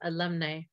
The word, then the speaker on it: alumnae: Alumnae is pronounced alumni.